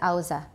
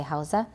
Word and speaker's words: Hausa: and by the way some say ausa i had a nigerian housemate at princeton and he said ausa and i asked somebody else and he said they are both pronunciations i guess they're different different means who have different pronunciations so how's the ausa are both okay we can say hausa in hausa the